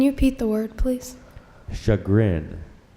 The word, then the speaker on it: chagrin: repeat the word please shut grin there are no alternate pronunciations although there are a couple of non-standard pronunciations they have here one being shagreen another being shagging but the standard pronunciation is chagrined can I have that